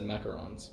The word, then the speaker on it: macaron: I've actually always said macarons. Macarons. Macaron. I think that actually sounds the most accurate because that's how it's spelled, macaron. Yeah. Yeah. I think just the French way of saying it is macaron.